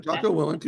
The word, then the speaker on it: Jocko Willink: So mine's Extreme Ownership by Jocko Willink and Leif Babin, the two retired Navy SEALs. I pronounced his name wrong, but anyway. No, you did it. Jocko Willink and Leif Babin.